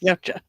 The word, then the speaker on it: Yautja: Yes, Yautja.